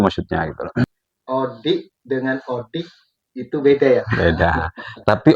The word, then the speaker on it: ODIK: ya gini kan, karena tulisannya Odi, Odi pakai K. Kalau ejaan Madura orang-orang membaca Odi, Odi itu dalam bahasa Madura kan berarti hidup. Yang dimaksud di sini ya hidup, tapi maksudnya Odik itu obrolan pendidikan, ya pendidik dan tenaga